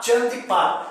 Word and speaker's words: Chandipat: Chandipat. Ele se escreve com C, mas é porque é uma transliteração para o latim. Aí seria como no italiano, Chandi, tá?